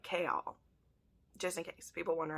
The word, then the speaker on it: Chaol: said that chaol's name it's like chaos but with an l so like k all just in case people